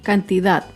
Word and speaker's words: cantidad: tilde es la palabra cantidad. Cantidad se acentúa en la última sílaba, pero no lleva tilde porque no termina ni en vocal ni en las consonantes N o S.